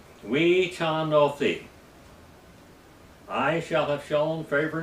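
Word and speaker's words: וְחַנֹּתִי: Here, it would be we ha no thi, but the correct pronunciation is we chan no thi. Chan, not H, but CH.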